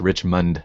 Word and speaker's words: Richmond: for the phonetically challenge it's Rich Mund not land so oh oh that's